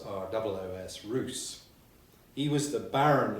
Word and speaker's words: Ros: Well, I'm going to talk about a medieval baron called Robert de Roos, spelt R-O-S but pronounced as though it was R-O-O-S, Roos.